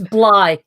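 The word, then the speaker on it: Bligh: facts about william bly am i saying it's blind it's fly right that's why you want me to pronounce it for you it's bly oh um anybody so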